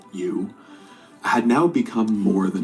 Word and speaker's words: EU: James's AI, which was named you, spelled EU, but pronounced you, had now become more than a chatbot.